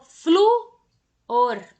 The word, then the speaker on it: flúor: leio que eu falo flúor Qual é a sílaba que eu abro a boca flúor por eu peço então a sílaba tônica é aquela que eu faço Bocão de jacaré para poder falar assinale como essa palavra